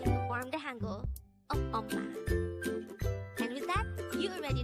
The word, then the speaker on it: 엄마: Again, it's 엄마. This is pronounced as a two-syllable word. The first syllable is the second syllable is ma. Pronounce it with me. 엄마, 엄마.